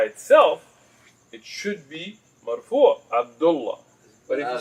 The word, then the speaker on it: Abdullah: And that's why a lot of the Somali brothers say Abdullahi. Because they're actually pronouncing it, but you should make sukoon, so just say Abdullah.